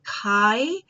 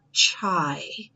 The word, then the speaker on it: chi: so that you know we pronounce it Chi and not chai that's the T all